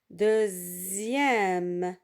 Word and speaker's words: deuxième: Et parfois, on trouve des mots où il y a la lettre X qui se prononce Z. Z. Comme dans, par exemple, le mot deuxième. Deuxième. Ici, la lettre X se prononce Z.